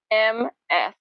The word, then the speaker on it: Ms.: It sounds the same as M-I-S-S, but it's spelled Ms., Miss Atena.